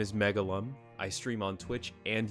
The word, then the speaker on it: Megalvm: That's called Megalum, but it's spelled Megalvm instead of UM.